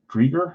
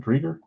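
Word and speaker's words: Driedger: Chris, I think you say Drieger. I think is how you pronounce it, Drieger.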